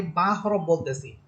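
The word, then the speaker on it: ب: যেমন যেমন উদাহরণস্বরূপ আমি বা হরফ বলতেছি। আপনারা দেখেন আপনারা যখন বা হরফ উচ্চারণ করবেন বা বলবেন তখন দেখেন এই বা হরফটা দুই ঠোর থেকে উচ্চারিত হচ্ছে।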